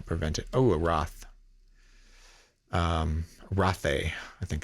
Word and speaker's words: rothe: Rothe, I think it's pronounced. Pronounced Rothe. I think that's how you pronounce it.